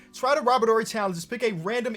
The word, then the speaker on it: Robert Horry: See, I be seeing people pronounce the H like Robert Horry, and I used to be in that group, but I'm pretty sure it's Robert Horry. Robert Horry sounds way better.